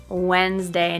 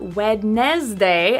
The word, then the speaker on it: Wednesday: And 13, another day of the week, Wednesday. Not Wednesday as it's spelled, but Wednesday. So that syllable after the first one, also known as the second syllable, disappears because the first syllable is so strong.